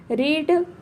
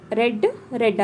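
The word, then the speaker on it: read: ಈಸ್ ಅನ್ನುವಂತಹ helping ವರ್ಬನ್ನು ಯೂಸ್ ಮಾಡಿದ್ಮೇಲೆ ಇಲ್ಲಿ ವರ್ಬ್ ಇರುತ್ತಲ್ಲ, ಇದರ ಒಂದು ಥರ್ಡ್ ಫಾರ್ಮ್ ಏನಾಗುತ್ತೆ, ರೀಡ್, ರೆಡ್ ಆಗುತ್ತೆ. ಸ್ಪೆಲ್ಲಿಂಗಲ್ಲಿ ಬದಲಾವಣೆ ಆಗಲ್ಲ, ಆದರೆ ಉಚ್ಚಾರಣೆಯಲ್ಲಿ ಬದಲಾವಣೆ ಆಗುತ್ತೆ. ನಾವಿಲ್ಲಿ ರೀಡ್ ಅಂತ ಓದಂಗಿಲ್ಲ, ರೆಡ್ ಅಂತಲೇ ಓದಬೇಕು.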